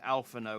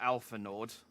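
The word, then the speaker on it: Alphinaud: nice to know that the d in alpha no is silent and it's not alpha nord i think it's called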